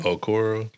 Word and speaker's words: Okoro: Okoro.